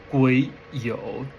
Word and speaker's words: 癸酉: This is 癸酉, pronounced as 癸酉, where 癸is a heavenly storm and 酉 is the earthly branches.